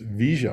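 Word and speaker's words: Villa: uh via pagina and in argentine spanish double l's pronounce sha so argentines are pronounced pronounced this visja pagina a beautiful area we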